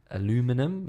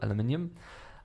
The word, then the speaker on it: aluminium: made from 100% recycled aluminum as you would pronounce it or aluminium and they actually take